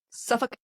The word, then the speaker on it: Suffolk: Suffolk, England. They don't pronounce that L. Wrong. Yeah, no, they in the UK they don't pronounce the L, and neither do the people who are from, say, Norfolk, Virginia.